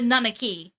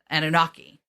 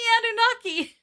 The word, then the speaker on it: Anunnaki: i like played how google was saying to pronounce it and google said nanaki yeah and so i was like a nanaki